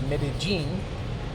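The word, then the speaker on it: Medellín: medene it is now which is spelled medine but it's medene and this is the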